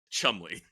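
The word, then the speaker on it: Cholmondeley: in you know typically entertaining fashion it's actually pronounced Chumley the Martian of Chumley spelled like shimay um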